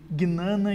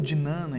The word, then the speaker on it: Jnana: Esse modo de pensar, diz ela, é o que os indianos chamam de Gnana Yoga ou Jnana Yoga. Essa Gnana Yoga, Jnana Yoga, Jnana Yoga, cada um pronuncia de um jeito, ela também pode ser relacionada com o que muitos chamam de gnose, né?